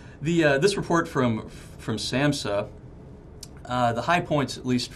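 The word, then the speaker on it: SAMHSA: Services Administration's how do you say that Sid Samsa substance abuse mental health services administration okay okay that's a bit of a mouth yeah we have lung titles in this business the this report from from Samsa the high points at least for Oklahoma they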